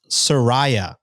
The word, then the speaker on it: Soraya: Second message, it's pronounced Soraya. Rolling eyes emoji, which I imagine means that I read the first one. I mispronounced her name.